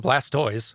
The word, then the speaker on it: Blastoise: we're going by the rules of language and pronunciation would be blastis not Blastoise we don't call them tortoises maybe we should